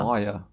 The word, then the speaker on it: choir: But I just put KW and say it's qu. Yeah. Choir.